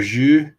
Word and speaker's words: Zhu: So, you can say it's kind of like the French bonjour except you like at the very beginning of the R.